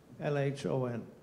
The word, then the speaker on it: LHON: In Swedish, we pronounce the abbreviation LHON as live here or now. LHON.